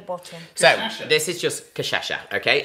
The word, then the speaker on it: cachaça: So, this is just cachaça, okay? And it's spelled C-A-C-H-A, and then there's one of those C's. What's that? That's S-A. No, it's a sh. There's no S in it. That makes sh.